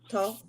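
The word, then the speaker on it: Thoth: Toph, pronounced Toph, also known as Tahiti, is the ancient Egyptian Ibis, head god of writing, divine magic, and the moon.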